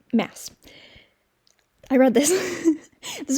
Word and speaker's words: Maas: No, it's Maas. Every time I say her name, I want to elongate the A, because that's just, it looks like it would be Maas, but I think it's Maas. That's how the other people say it.